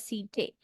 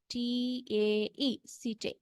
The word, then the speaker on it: setae: We should pronounce it as setae. Yes, E-T-A-E, setae.